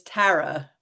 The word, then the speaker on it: Tara: My name is Tara.